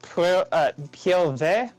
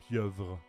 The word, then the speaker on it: pieuvre: Abiba, is octopus pronounced Pielve? Or am I'm butchering that, aren't I? Yes. Okay, how do I say it correctly? That means no A. If there's the A, there's an accent. Piel? Piel? Piel? Pieuvre. Pielve. Vre.